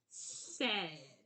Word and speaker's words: said: So what that is said.